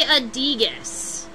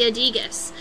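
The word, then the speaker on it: aedeagus: And I believe they call that the adigus.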